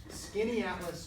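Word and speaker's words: Skaneateles: a little place called Skinny Atlas New York it's pronounced like a thin book of maps but it's spelled really weird uh and so this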